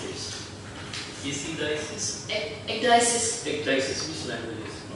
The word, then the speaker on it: ecdysis: How do you pronounce this? Ecdysis? Ecdysis.